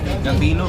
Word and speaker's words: Gambino: Gambino rhymes with bambino.